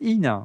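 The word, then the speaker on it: IINA: Alors je sais pas comment on prononce, si c'est LLNA ou c'est INA. Non, c'est INA. On me souffle dans l'oreillette, mais avec 2 I, comme l'INA, l'Institut National de l'Audiovisuel, avec 2 I.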